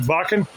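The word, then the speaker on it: Wacken: Now I mentioned Vakan. W A C N. Now the German W is pronounced with a V sound.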